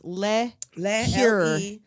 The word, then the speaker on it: LeCure: Fox is Debi LeCure, which because I'd never looked up the name, I thought was spelled like a liqueur. But no, it's LeCure. Cure.